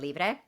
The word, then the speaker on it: Libre: album, but she is with the one from Libre.